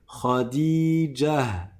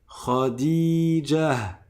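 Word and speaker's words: خديجة: il précède le gym si je fais la liaison c'est s'il y a un mot après et que je le lis directement par contre si je m'arrête dessus je vais dire Khadijah Khadijah ça c'est la première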